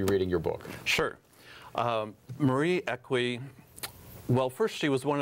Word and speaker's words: Equi: Now, you and Marie Equi, am I pronouncing it correct? Equi.